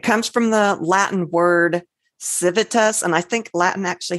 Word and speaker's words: civitas: so it might be civitas, and I think their V's might be pronounced other ways too.